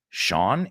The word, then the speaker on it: Sean: But you got to watch the scene first with Sean Connery, que no se pronuncia sin, aunque debería, ¿no? Sean, S-E-A-N, sí, así es. No es como scene.